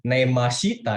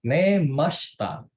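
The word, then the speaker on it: 寝ました: belakangnya nih dibacanya Neymar bacanya tuh bukan neymashita ya tapi kita bacanya neymasta sinyal itu ditipisin Neymar Tapi kalau nggak tidur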